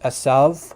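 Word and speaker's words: עשו: from the Hebrew which in Hebrew it's pronounced asav which in modern Hebrew asav but in biblical times it probably would have had very similar pronunciation to to Arabic um you know the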